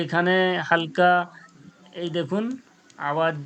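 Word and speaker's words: ح: মাঝখান থেকে কি বাহির হয় আইন হা আইন হা আইন হা আইন হা আইন যে আমি উচ্চারণ করব কণ্ঠনলীর মধ্যখান হইতে আইন হা আইন হা আইন হা আইন হা আইনটা একটু চেপে বের করব এরপরে দেখুন মাখরাজ নাম্বার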